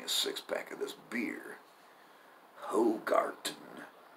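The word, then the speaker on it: Hoegaarden: Hogarten. I'm sure that that D is pronounced as a T.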